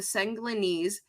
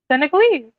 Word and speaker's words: Senegalese: pronounced or spelled though Senegalese that's what I said okay I probably didn't put emphasis on the end like you did because who needs an